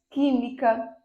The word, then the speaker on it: química: Última oxítona, penúltima paroxítona e antepenúltima proparoxítona, que é o caso de física, química, oxítona, oxítona, física, química, pássaro. Então, observem, pássaro é a antepenúltima sílaba tônica.